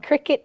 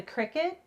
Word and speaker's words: Cricut: It's pronounced like cricket, isn't it?